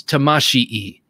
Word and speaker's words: Tamashii: I think in Japanese you pronounce everything, and there are two eyes at the end of this. So I think it's Tamashii.